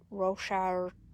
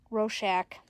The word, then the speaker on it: Rorschach: It kind of looks like one of those Rochard, or however you pronounce it, Tess. Rorschach.